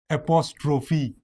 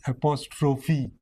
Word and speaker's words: apostrophe: vowel is vowel sound or vowel letter is pronounced so here it is catastrophe the other words of that type are apostrophe See this apostrophe and then we also have simile.